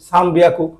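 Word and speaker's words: さんびゃく: ঠিক আছে, তাহলে বিয়াকু, যুক্তবর্ণের বিয়া, বিয়াকু, সাম বিয়াকু। তাহলে আপনাদের 300 ক্ষেত্রে ব্যতিক্রম সাম বিয়াকু, 400 ক্ষেত্রে ইয়ন হিয়াকু।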